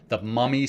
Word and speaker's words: MVMI: It's the Mummy Sleep pillow, and it's spelled kind of differently than you may expect. It's spelled MVMI, so the V is pronounced like a U.